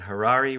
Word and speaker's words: Harary: I'm Harary. Rhymes with Ferrari.